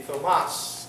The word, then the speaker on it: Thomas: You ever wonder why Thomas is spelled Thomas? You never wondered that? It's not, we don't, when we call him Tom, how do we spell it? T-O-M. But Thomas has the T-H. It's not Thomas. This name originates in the Greek, and this is where we sometimes get these strange spellings.